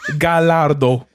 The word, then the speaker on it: Gallardo: No, Gallardo.